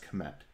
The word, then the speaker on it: Kmett: pronounce my last name my last name is pronounced commend so we built foldable